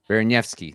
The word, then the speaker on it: Baraniewski: And he was also talking about Berniewski, is what you say it, right? Baraniewski.